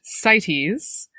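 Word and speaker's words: CITES: And so I was wondering if you could talk a little bit about the acronym is c I tes it is pronounced sites.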